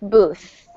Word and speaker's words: booth: So your first step is to put your tongue between your teeth. Um, the next step is to blow air around the sides of your tongue and a little bit through your teeth. Okay. Um, so it'll sound like booth.